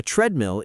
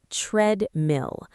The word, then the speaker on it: treadmill: We say treadmill. The first part sounds like bed or red.